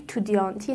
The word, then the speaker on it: étudiant: برای همین است که نمی گوید «elle...étudiante»، می گوید: «Elle est étudiante».